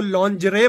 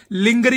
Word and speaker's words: lingerie: मुझे बड़ा लेट होके बलूगत के बहुत सालों बाद आइडिया हुआ कि लड़कियों के अंडरगारमेंट्स को लॉन्जरे बोलते हैं, लिंगरी नहीं बोलते गरीबो।